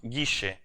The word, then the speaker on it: Guille: So it is pronounced Guille. Like I don't know.